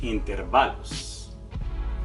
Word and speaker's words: intervalos: acento no decimos intervalos no decimos intervalos y tampoco decimos intervalos decimos intervalos hoy inesperado acento en la penúltima sílaba mañana acento en la